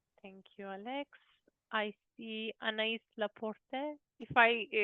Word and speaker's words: Anaïs: My name is Anaïs.